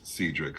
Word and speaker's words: Cedric: name my name is spelled like Cedric but pronounced Cedric so uh thank you Corey thank you for